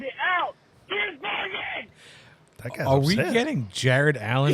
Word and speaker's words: Shane van Gisbergen: Sound it the out! It's not that hard to pronounce. Shane Van Gisbergen? That's what you say every time you reference this poor f***ing man. It's not that hard. Sound it out.